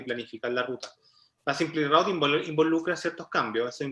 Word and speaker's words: SimpliRoute: SimpleRoute, ¿cómo se pronuncia? SimpleRoute. Sí, según el gusto del consumidor. Tenemos un buen video que dice lo mismo. Depende de dónde uno aprendió inglés.